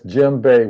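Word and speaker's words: djembe: That's Jimbe with the D but the D is silent.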